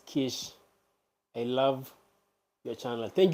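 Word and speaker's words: quiche: and eat with us oh it's pronounced as Kish I love your channel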